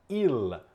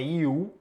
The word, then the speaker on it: il: dav a consonante então atenção a pronuncia he Il não é eu ouço muito aluno diendo não é iu como se fosse um U é l o l no